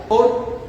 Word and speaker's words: Orr: Edwin Orr, no sé si se pronuncia, Orre, ¿cómo sería? Orr, se escribe en inglés Orre, se pronuncia Orr.